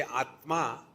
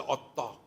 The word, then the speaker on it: Atma: Like if they have to say Atma, they cannot pronounce this conjunct consonant. They'll say Atta.